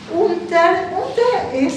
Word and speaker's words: unter: En alemán no se pronuncian las R porque es norótico, no es unter, es unter, ¿no? Unterdruck. Eso se lo traducen por sofocación. Por eso, por ejemplo, en el apellido Schuster no es Schuster, es Schuster. No se pronuncian las R al final.